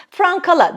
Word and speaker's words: francala: buğdayla francala yapılmaz diyor francala dediğimiz şey de bildiğimiz beyaz ekmek Frank kala diye okunur Ama halk arasında hepimiz malum franc diyoruz ve o da öyle diyormuş Türkiye'de Aslında katma değerli